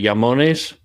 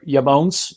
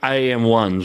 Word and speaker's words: IAMONES: our mutual friend Marco Veni taught me the pronunciation how close did I get it yamon you're perfect and um yeah say it yonis or yamon you can that's the right pronunciation okay so